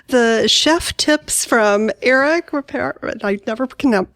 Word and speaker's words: Ripert: And then I love the chef tips from Eric Ripert. I never can pronounce his name correctly. Is it Ripert? You got it totally right. It's Eric Ripert. Ripert, yay.